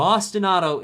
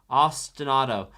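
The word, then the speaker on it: ostinato: my spelling there now Austinado if you want to say it say it like the city Austin and then like the name auto or like the car auto ostanado which means it repeats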